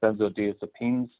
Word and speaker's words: benzodiazepines: substitution from pain medicines to bend the it's pronounced benzodiazepines by saying that yes does it is means